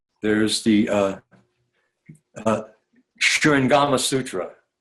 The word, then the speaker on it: Shurangama: There's the Shurangama Sutra. It's spelled Shurangama, Shurangama, but sometimes it's Surangama Sutra.